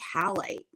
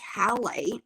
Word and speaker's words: halite: others fascinating and then the stone is pink halite pink halite and it's spelled h-a-l-i-t-e for those of you who are